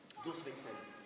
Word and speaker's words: Durchwechsel: Prononciation Durchwechsel. La prononciation allemande juste et correcte.